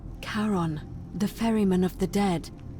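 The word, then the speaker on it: Charon: is a little off the name you heard wasn't karen it was c-h-a-r-o-n as in caron the ferryman of the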